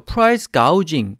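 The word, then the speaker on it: price gouging: 프라이스가 우즈 이렇게 되어있죠 프라이스 가우 징 지오 유지 인데 발음을 조금 주의하시고요 파이스 가우 징 이라는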